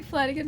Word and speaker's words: Flanigan: Welcome to Flanigan with her shenanigans. At least it rhymes. I got that going for me. My surname rhymes with shenanigans, so it can be Flanigan shenanigans.